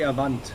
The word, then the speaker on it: Avant: rs2 audi event event however it's pro it's pronounced rs2 like in germany we say avant i want yeah okay i used to uh